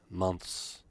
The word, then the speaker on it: months: is singular fukusu is months you don't have to struggle with the th you can simply say months and that is good